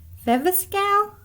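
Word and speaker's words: Viviscal: rub it on there all right number four viva scale a natural growth supplement promotes hair growth in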